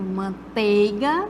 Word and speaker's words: manteiga: se fosse com e tá manteiga a manteiga aí nós como se não tivesse um ditongo né então correto manteiga e beneficiente levou a